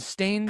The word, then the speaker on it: Staines: Spelled like stains? With an E at the end. Staines.